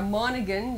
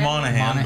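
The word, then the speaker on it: Monaghan: cabin um and uh monegan you'd want to call that you would think of monahan but you'd be wrong exactly so getting to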